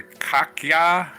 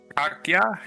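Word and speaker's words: Kaká: Kaka. Kaka. Kaki. K A K A with a till day over what is called a accent. Yeah. Kaka. Kaka. I think that's how it's pronounced.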